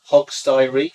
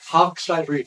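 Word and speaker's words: Hogsty Reef: Hogstay Reef. Hogstay Reef.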